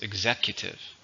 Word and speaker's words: executive: an adjective or noun how many syllables executive four stresses on the second syllable the ability to hire